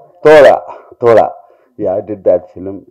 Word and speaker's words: தோழா: The pronunciation? Thola.